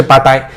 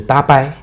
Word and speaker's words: tapai: 了巴呆，我不知道是他的正好是这个 slip of tongue 这讲错了，还是说那个发音确实是巴呆？因为我看那个拼法 TAPAI 应该是搭掰。